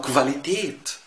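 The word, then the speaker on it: Qualität: زي على سبيل المثال اشهر كلمه نعرفها كفاتش، يعني كلام فارغ، كفاتش، او بكفين، او كفيلا، كلمات او كفاليتيت، جوده. هتلاقي دايما ان الكو او يتنطق في الالماني كف كف، ركز فيها.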